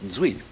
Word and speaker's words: Duy: extraordinary musician named Fami spelled duy but I Cordon I'm told pronounced zi uh I only just